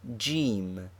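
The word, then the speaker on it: جيم: is this sign jim it is the letter jim which is the english j but pronounced hard g in egypt the initial form of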